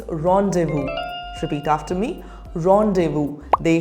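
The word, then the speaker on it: rendezvous: next word how do you pronounce this word rondes Vu incorrect the correct pronunciation is Rondevu repeat after me Rondevu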